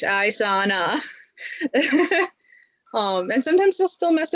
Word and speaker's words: Isana: And I'll spell it out like EYE dash SAH dash NAH Isana.